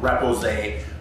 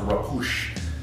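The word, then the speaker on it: repoussé: about the process of repousse, or sometimes I hear it pronounced repousse, but I think that's more of the actual French pronunciation, but most of the people in North America call it repousse.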